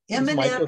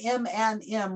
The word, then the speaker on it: Eminem: it's from what's up eminem is not in there and it isn't m and m like the candy it's e-h-e-m-i-n eminem spelled out phonetically wait a minute i